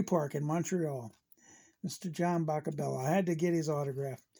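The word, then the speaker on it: Boccabella: and it took six days for mr john buckabella that's how they used to say his name when he come to bat old cherry park in montreal mr john boca bella had to get his autograph he signed this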